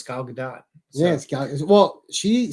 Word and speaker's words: Gal Gadot: you know pronouncing her name right no one pronounced their name right her name's not it's it's it's five letters yeah but gail gadot no it's gal gadot yes well she says it so it's not